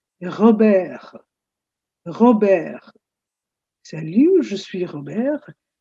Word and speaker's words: Robert: It's not Robert. You write Robert, but in French this is pronounced as Robert.